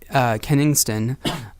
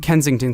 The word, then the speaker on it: Kensington: the last house yeah Kennington Kensington Kensington sorry it's a hard name to pronounce I'll try it again Ken Kensington can yeah there we go that was a